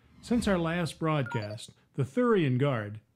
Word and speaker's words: Theuerian: our last broadcast the thoran guard that's still pronounced like sewer only with a lisp has intensified its effort